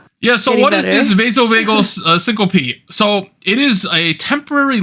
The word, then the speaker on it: syncope: Vasovagal syncope. That's how you pronounce it, Anita. Oh, syncope.